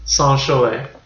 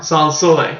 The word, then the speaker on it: Sans Soleil: And Sans Soleil. No. Sans Soleil. There you go. Sometimes I think I'm only here to correct your French pronunciation.